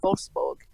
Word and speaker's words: Wolfsburg: In fact, I remember one of the last times I noticed that was actually when I was in Wolfsburg. Is that did I pronounce it right?